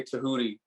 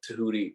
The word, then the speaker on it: Tehuti: that's why i say my name is nah uh tahuti but but most people